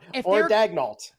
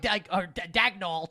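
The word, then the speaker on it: Daigneault: Like, if they're Dagnalt. Or Dagnall. Yeah, but it's not as fun. Like, the way it's spelled, it should be like it should be like pronounced like in the French way, like Daniel.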